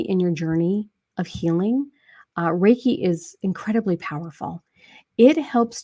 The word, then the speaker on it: Reiki: Reiki master, can you explain? And I know I mispronounced the word.